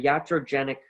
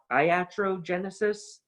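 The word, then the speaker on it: iatrogenic: again it comes from there's different ways of pronouncing it in english a lot of people pronounce it uh iatrogenesis but in reality the physician in ancient greece and antiquity was called ayatros so the physician the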